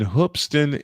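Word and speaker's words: Hoopeston: There's a high school in Hoopston, Illinois. Spelled it is spelled hoop with an e s t o n, but it's pronounced hoopston.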